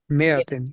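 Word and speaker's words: مائة: So remember that this alif of mea, we write it, we do not pronounce it.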